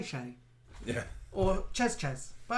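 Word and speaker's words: chez: always troubled me because they were spelled the same c h e z c h e z so if you were going to it you'd never call it chasers you'd say are you going to shay shay yeah or chess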